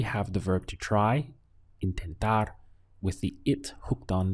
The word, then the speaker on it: intentar: There are a few options in Spanish, but the one we'll go for right now is intentar. We have 3 syllables. In, ten, tar.